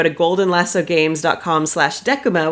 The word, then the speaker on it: Decuma: golden lasso Gamescom slash deck kuma which is spelled Dec um a it's named after the Roman one of the Roman face and it has the word deck in it which makes me happy